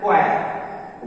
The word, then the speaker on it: choir: For example जैसे CHOIR, तो C के बाद है तो H साइलेंट होगा, इसका उच्चारण है क्वायर।